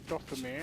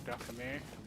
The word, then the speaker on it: Dathomir: So yes, on Dathomir or Dathomir, whichever way you want to pronounce it, there's a call.